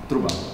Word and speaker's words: Truban: Michael Turban, if I'm pronouncing that correctly. Okay. Close enough. Truban. How do you pronounce that in Slovak? Truban.